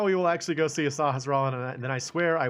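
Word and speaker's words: Sahasrahla: Alright, Sasha Raharla. Which is what I used to call him when I was a kid. Sasha Raharla. I couldn't pronounce Sahasrara.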